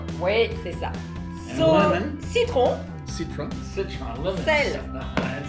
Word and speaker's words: citron: Citron. Citron. Citron, lemon. Sel. And when you say your R's in French, you got citron.